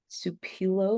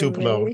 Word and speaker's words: Tupelo: Tim Fielder is an illustrator, concept designer, cartoonist, and animator born in Tupelo, Mississippi. I'm sorry if I butchered that. It's Tupelo. No worries. Tupelo, period.